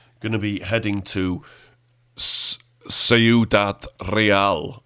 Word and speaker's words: Ciudad Real: to be heading to Ciudad Real, which I've totally said wrong, it's Ciudad. I think the Spanish pronounce it Ciudad Real, or something like that.